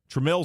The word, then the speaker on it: Trammell: Now, uh Tramel or Trammell or however you want to pronounce his name. Tramel.